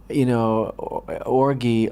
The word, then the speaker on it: orgy: this total, decadent, Neanderthal, orgy of violence, and is that a soft G or a hard G? I never. Soft.